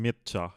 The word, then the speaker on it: Mircea: We call him Mircea here in Romania, but you can say Mircea or whatever, I however say you Mircea, pronounce it.